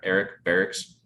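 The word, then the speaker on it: Berrics: costen bera eric barra eric barracks oh yeah yeah so it's spelled differently than the military dorm but it's the same name um but so steve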